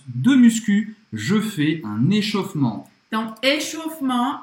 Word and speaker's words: échauffement: Avant de commencer ma séance de muscu, je fais un échauffement. então, échauffement é aquecimento, literalmente, tá? Literalmente significa isso. Échauffement. Presta atenção porque esse E no meio, ele praticamente não é pronunciado.